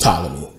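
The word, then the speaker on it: Ptolemy: for tmy it's just a thing but it's pronounced tmy but um they got into a war and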